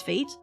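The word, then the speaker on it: Fayt: And apparently, they have told me that people don't know how to pronounce Fate, even though it's F-A-Y-T.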